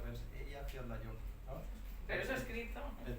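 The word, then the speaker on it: Eyjafjallajökull: Entonces, los separas en 3 y entonces es más fácil de pronunciar, pero sí, desde luego, la geografía islandesa es como el idioma, ¿no?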